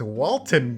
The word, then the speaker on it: Walton: It's not Walter, it's Walton Goggins. Oh, yeah, it is. I always do that, I called that too. fool Walter for years.